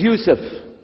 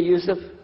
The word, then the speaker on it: Yusuf: we'll work on it inah my name is Yousef can you say Yousef you say Yousef you're very good I wish